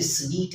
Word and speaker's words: suite: हम उसको ज्यादातर लोग सूट ही पढ़ते हैं, लेकिन ऐसा नहीं है। इसकी सेम प्रोनाउंसिएशन जैसे स्वीट है वैसे ही है, SUITE, स्वीट। तो ये स्वीट है, ये सूट नहीं है, ये है स्वीट, जैसे कि मैंने आपकी